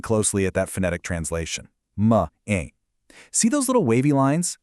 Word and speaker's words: mãe: This is where Portuguese pronunciation gets incredibly cool. Look really closely at that phonetic translation. "Ma ain".